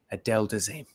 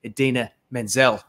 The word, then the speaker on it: Idina Menzel: an award, and he completely got her name wrong and called her Adele Dazeem. But her name is not Adele Dazeem. It is the incredible, incomparable Idina Menzel.